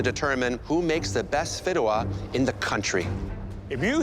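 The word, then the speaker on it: Fideuà: And the dish you'll be making is Fidua. I've never heard of this in my life. Fideo?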